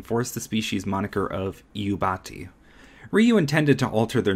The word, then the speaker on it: Iubati: used by the website, most people mistook the I for an L. This is the reason why many people, even today, mispronounce the Iubati as Lubati.